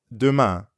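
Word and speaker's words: demain: of biento you'd add Duma aduma aduma Duma means tomorrow means see you tomorrow yep abiento and aduma see you tomorrow the ending of Duma sounds a lot like the ending of Beyond Duma Duma now you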